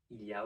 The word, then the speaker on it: il y a: So what happens is that we don't pronounce the L and we blend both of the E sounds together into a semi-consonant y. So instead of il y a, it would just be ya.